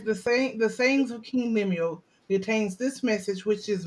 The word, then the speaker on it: Lemuel: That's how you Yeah, pronounce Lemuel.